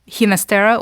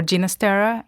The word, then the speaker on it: Ginastera: Okay, so the Argentinian 2 are Ginastera or Ginastera, whatever you wish, and Piazzolla.